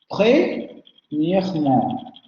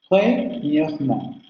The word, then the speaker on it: premièrement: Premièrement. Vean, tenemos una sílaba con 2 consonantes precedentes y entonces ahí tenemos que pronunciar sí o sí la vocal. Premièrement.